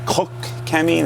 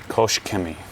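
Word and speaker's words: Koch-Chemie: I said, isn't it Koch Chemi? They said, no, we pronounce it Kosh. Kosh Chemi.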